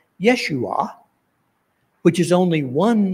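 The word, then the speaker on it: ישוע: name Jesus is interesting if you were to pronounce the name in Hebrew it would come out Yeshua which is only one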